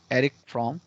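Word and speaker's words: Erich Fromm: एरिक फ्रॉम। अब ये German नाम है, स्पेलिंग आपको ऐसे ही लिखना है, उच्चारण जो मैं कर रहा हूं वही करना है।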